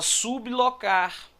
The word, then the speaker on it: sublocar: letra é da eco Olha só sublocar nem fala sobre boca fala sublocar sublocar então esse bebê ele é pronunciado de separado em relação ao l isso não é um